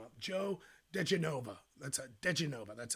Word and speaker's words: diGenova: diGenova, that's how you say it.